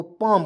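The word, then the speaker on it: palm: एल एम को हम लोग क्या पढ़ेंगे तो पाम पढ़ते क्यों पढ़ेंगे कैसे पढ़ेंगे देखिए इसको भी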